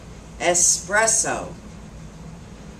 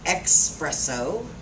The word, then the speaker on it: espresso: relate to this word espresso we all know what espresso is right it's not expresso i hear espresso well